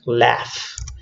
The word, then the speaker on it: laughs: we have laughs so the pronunciation is like a like an F here at the end laughs laughs with pronunciation and